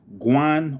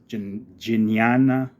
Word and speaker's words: Jnana: Jnana Yoga, pronounced Guan or Jnana, self-transcending knowledge.